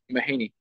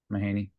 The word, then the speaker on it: Mahany: stuff how do you say your last name mahany mahany okay yeah Aiden mahany so best place to